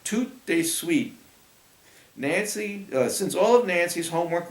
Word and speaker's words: tout de suite: Come over tout suite. Tout de suite meant right away in French. You say it like tout de suite.